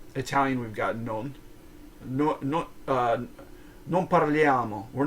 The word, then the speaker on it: non: non that was non non non non heinous like Bill and Ted but here like even the non is pronounced no no it's nasal no so it kind has an N remember C play we